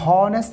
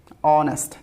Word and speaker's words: honest: সো অনেস্ট, এখানে হনেস্ট হবে না, এখানে এই এইচের যেই প্রোনাউন্সিয়েশনটা, এইচের উচ্চারণটা এখানে সাইলেন্ট হবে, সাইলেন্ট। এইচটাকে উচ্চারণ করব না, সো ও থেকে উচ্চারণ করব অনেস্ট।